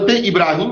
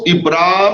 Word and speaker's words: ابراہیم: ہے۔ پہلا نکتہ حضرت ابراہیم علیہ السلام کی عظیم اور عبقری شخصیت سے متعلق ہے۔ آپ کا اسم گرامی ابراہم یا ابراہیم ہے۔ اس لفظ کا تلفظ ابرام اور ابراہام بھی کیا گیا ہے۔ معنوی اعتبار سے لفظ